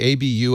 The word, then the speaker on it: Abu: Yes, I realized if you divide it up properly, A-B-U, Abu, L, Samid. Yes. So I suddenly realized, I can pronounce that.